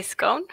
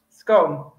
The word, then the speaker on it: scone: sort of things like words like scone or scone. How do you say it, Faiza? I think I say scone. Scone. You see, I say scone, my mum says scone.